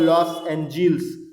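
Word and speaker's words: Los Angeles: America का California में लॉस एंजिलिस नाम की जगह है, लॉस एंजिलिस नाम की जगह है, लॉस एंजिल्स है, सॉरी प्रोनाउंसिएशन थोड़ा सा गड़बड़ हो जाता है।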